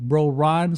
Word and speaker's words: BroRon: luckily luckily you know the word bro it rhymes with my name bro Ron so it it has